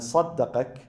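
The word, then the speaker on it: صَدَّقَكَ: Sadaqak, if you write it in Arabic, sadaqak and saddaqak, there is a slight difference between them. They are written in the same way, exactly the same way, but pronounced differently. Sadaqak and saddaqak.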